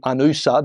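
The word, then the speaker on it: UNOOSA: and a bunch of other resources on the anusa that's how you say it the United Nations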